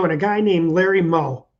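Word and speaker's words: Meaux: Well, I made the video, and a guy named Larry Moe. It's M-E-A-U-X from Louisiana. Larry, it's pronounced Moe.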